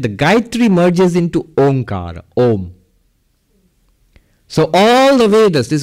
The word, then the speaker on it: Om: By the rules of Sanskrit grammar, A and U, when you put them together, they become Om. They become O and then Ma. Mm. So Om, that's the correct pronunciation actually.